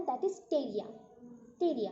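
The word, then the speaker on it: Pteria: और एक स्पीसीज है that is टेरिया, टेरिया P silent रहेगा यहाँ पे, टेरिया।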